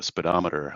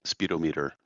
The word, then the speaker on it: speedometer: And I wasn't a speaker at the time, but the word was speedometer. I think you said speedometer, but it's typically pronounced speedometer, just to be helpful.